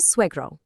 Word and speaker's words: suegro: We have a strong we sound followed by a gr. Practice saying it smoothly.